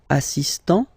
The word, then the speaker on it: assistant: Il est assistant. So don't pronounce the final t here. But for the feminine form, elle est assistante.